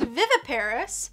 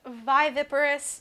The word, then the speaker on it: viviparous: okay yes of course it can also be pronounced viviparous and you know tomato tomato potato potato either either is fine you know things sometimes